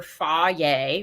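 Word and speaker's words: Fage: depends what i'm doing with it uh either fa yay which is spelled f-a-g-e um or sometimes i do uh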